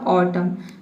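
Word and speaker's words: autumn: इसका प्रोनाउंसिएशन म से ही फिनिश हो गया ऑटम। तो यहाँ पे क्यों फिनिश हो गया, क्योंकि एन लेटर साइलेंट है।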